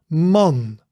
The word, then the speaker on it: man: So you pronounce the A, you pronounce it as in hard but shorter. A, A. Hard, for example, hard, and then make it shorter.